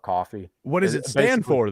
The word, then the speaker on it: Ko-fi: I pronounce it Ko-Fi. Some people call it coffee.